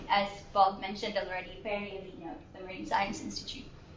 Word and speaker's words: Horigue: I'm Vera Horigue. Yeah, it's Horigue. Anyway, so title of my thesis is basically scaling up to form marine protected area networks.